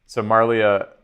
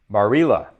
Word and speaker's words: Marilla: So Marlia, right. Marilla, that's the way it's pronounced.